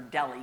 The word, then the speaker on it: Delhi: Well, Polly, that H is silent. It is pronounced deli.